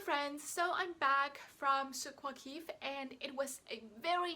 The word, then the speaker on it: Souk Waqif: In Arabic it's Souk Waqif, so this is kind of back from the throat if I'm pronouncing it correctly.